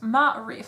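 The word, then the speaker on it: Maârif: I was 8, and my dad had just purchased an apartment in the busy town of Marif, pronounced Ma'arif, so I totally said that wrong the first time, in Casablanca, Morocco.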